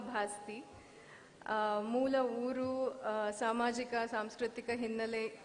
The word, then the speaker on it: ಭಾಸ್ತಿ: ಬಗ್ಗೆ ಹಲವು ಚರ್ಚೆಗಳನ್ನ ಕೇಳಿದ್ದೇನೆ ನನ್ನನ್ನ ನನ್ನ ಸರ್ನೇಮ್ ಅನ್ನು ಭಾಸ್ತಿ ಬಸ್ತಿ ಬಸದಿ ಬಸಂತಿ ಅಂತ ಏನೇನೋ ಬೇರೆ ಬೇರೆ ಸ್ಪೆಲ್ಲಿಂಗ್ ಗಳಲ್ಲಿ ಯದ್ವಾತ್ವ ಉಚ್ಚಾರಣೆಗಳಲ್ಲಿ ಹರಡಿವೆ ನಾನು ಭಾಸ್ತಿ ಮೂಲ ಊರು ಸಾಮಾಜಿಕ ಸಾಂಸ್ಕೃತಿಕ